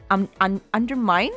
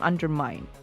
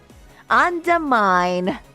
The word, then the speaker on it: undermine: for the longest time under mind under me pronunciation under mine okay under mine like mining or digging ah okay undermine correct yeah edwe does use